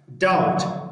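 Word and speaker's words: doubt: دا نه تلفظ کېږي. ډیټ قرض ته ویل کېږي. استقراض یا قرض. ډاوټ ګمان یا شک ته ویل کېږي.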